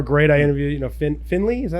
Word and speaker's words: Findlay: yeah they were great I interviewed you know Finley is that how you say it yeah Findlay